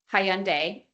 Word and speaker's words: Hyundai: Hyundai. Hyundai.